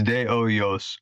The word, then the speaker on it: De Hoyos: I don't pronounce the S. It's De Oyos.